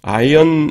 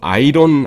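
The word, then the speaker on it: iron: 아이언. 아이언맨 아시죠? 그 저는 뭐 배우 이름은 모르겠는데 아이언맨는 영원하다. 이거 아이론 아닙니다. 아이론 아니고 알짜가 묵음되죠. 아이언입니다. 아이언맨은 영원하다.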